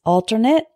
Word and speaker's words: alternate: in the English language the first one is alternate and Alternate alternate means an alternative the next